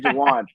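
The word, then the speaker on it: Jauan: number three is what how do you say his name Jennings from the ners Jan J say Jan Jan Jennings I didn't even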